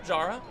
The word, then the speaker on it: Jara: you wondering if you're you're hearing Pablo Jara and you're getting a little Jarred by that pronunciation been Pablo Hara for so long but turns out that he wants his name to be pronounced that way now Jara sometimes you get